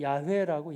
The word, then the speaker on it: 여호와: 여호와, 여호와예요. 근데 이제 어떤 분들은 또 이래요. 여호와는 정확한 발음이 아니에요. 한번 들어보셨어요? 야훼라고. 야훼?